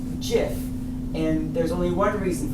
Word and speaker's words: GIF: for graphics interchange format Graphics of course is a hard G so you think it would be GIF but when he was asked about it he said it's actually pronounced GIF and there's only one